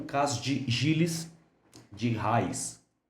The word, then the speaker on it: Rais: Aqui vem os grandes julgamentos de magia, em especial o caso de Giles de Rais. ou de raiz. Já vi pessoas pronunciando dessa maneira também.